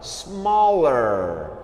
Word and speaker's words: small: O pessoal tem mania das palavras que começam com S em inglês fazer som de Z, né?